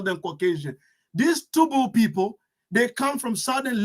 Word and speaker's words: Toubou: The Toubou people, pronounced sometimes Tebu, are a Saharan ethnic group inhabiting northern Chad.